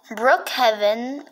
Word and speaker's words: Brookhaven: Brookhaven, that's how you pronounce it, is fine, but the other games are not fine.